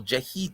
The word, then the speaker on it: Jahi: I never heard of that what's the guy's name Jackie Tucker Oh jahi yeah yeah yeah yeah jahi Tucker yeah sorry about that the accent's on the wrong syllable jehee Tucker my apologies also congratulations